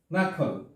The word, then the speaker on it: knuckle: এরপরে হচ্ছে নাকল, নাকল, কে এন ইউ সি কে এল ই, কে এন ইউ সি কে এল ই।